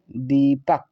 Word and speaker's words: दीपक: तो इसे हम पढ़ेंगे दीपक। क्या पढ़ेंगे? दीपक। डी से द, E का मतलब बड़ी की मात्रा, पी का मतलब पा, ए साइलेंट रहेगा, के का मतलब का हुआ दीपक।